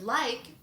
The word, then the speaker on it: like: The word like also has a long I sound to it. Like, also because of this silent E.